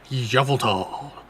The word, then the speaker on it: Yveltal: Xerneas, which represents life and rebirth, and Yveltal, representing destruction and death. The power to grant life and the power to steal life. Huh? You're saying it wrong. Yveltal.